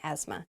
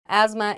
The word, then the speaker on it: asthma: uh spelled very weirdly there's a th in there but we do not say the th it's it sounds like asma asthma asthma is a respiratory condition